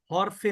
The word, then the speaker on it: হরফ: উচ্চারণটা কিন্তু হরফ না এটার উচ্চারণ হচ্ছে হারফ হারফুন কিন্তু আমাদের চলিত ভাষা হয়ে গেছে হরফ এজন্য হরফ বললাম আর